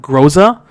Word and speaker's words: Groza: It's called the how do you pronounce that? Groza? I'm pretty sure Groza, yeah.